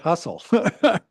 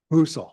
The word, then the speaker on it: Husel: That's how you say it. I always call it Hustle. Husel.